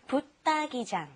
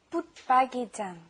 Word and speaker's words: 붙박이장: And watch the pronunciation. It's really hard to say. Lots of people don't even know how to spell it correctly. Okay, 옷장 is with like a D sound. This is also the same. 붙박이장 is also like a D sound underneath the put.